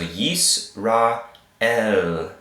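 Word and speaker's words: יִשְׂרָאֵל: yeast rot and then a la mitad so yes Rael yes Rael okay let's start over again the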